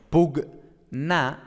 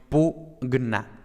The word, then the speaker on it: pugna: Entonces, no tendríamos pugna, sino que tendríamos pugna, ¿vale?